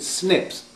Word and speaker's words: SNPs: call single nucleotide polymorphism it's usually abbreviated to snps and we usually pronounce it snips and these little snips